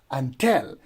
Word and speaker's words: until: you will pronounce it until because the stress goes on the second syllable that is until not